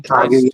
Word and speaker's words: Kaguya: Didn't he do the Kaguya, or however you say her name? Kaguya, yes.